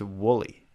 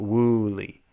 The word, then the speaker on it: woolly: mummified woo I think I was trying to pronounce both O's instead of a u it's woolly not wooly wooly mama woly Mammoth